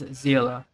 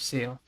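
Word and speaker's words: Xilonen: Yeah, the game pronounces it as Zila instead of Seal. Because I think that's the proper like German pronunciation.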